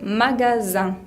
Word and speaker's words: magasin: Para decir la palabra comercio o local se dice magasin. Magasin. Un. La I con N se pronuncia un. Magasin. También la palabra mañana, por ejemplo, se dice matin.